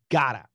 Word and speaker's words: gotta: two got two but many of you know it sounds exactly like gotta but be careful gotta